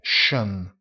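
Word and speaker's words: schön: mentre l'aggettivo bello bella la o ai due punti e si pronuncia jean bello jean già sean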